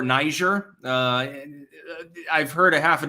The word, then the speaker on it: Niger: It's pronounced Niger, I believe, in the Francophone sense, or Niger.